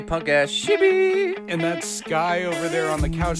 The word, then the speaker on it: Skye: The E is silent, but okay, whatever. Yeah. Skye.